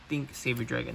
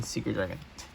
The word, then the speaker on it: Thing Saver Dragon: Seeker, think Saber Dragon. That's how you say it. I kept saying Secret Dragon.